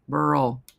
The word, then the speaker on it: Burl: Burl rhymes with Merle, as in Merle Street. Burl.